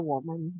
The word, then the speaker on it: 我们: Bacanya adalah woman, ya.